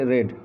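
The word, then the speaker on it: read: এখানে আরেকটি আছে সি রেড এ বুক, এখানকার উচ্চারণটা হবে রেড, কিন্তু যদি এটা প্রেজেন্ট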